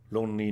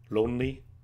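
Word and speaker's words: 論理: It kind of sounds like lonely. It's pronounced lonely.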